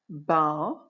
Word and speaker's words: bough: Every one of them ends with O-U-G-H, but each one is pronounced differently. Have a go. How many did you know? Listen as I say them. Though, through, bough, which is another word